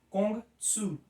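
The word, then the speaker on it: 孔子: Mas o nome original então é Kong Tzu. Kong Tzu, ou o mestre Kong, assim como Lao Tse,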